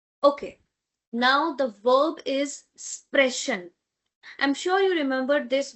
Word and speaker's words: sprechen: Before ch we have e. So we will be having sh sound and not k sound.